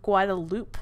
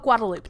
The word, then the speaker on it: Guadalupe: However, there's a Guadalupe Street, and it's spelled exactly the same, but it's called Guadalupe, not Guadalupe.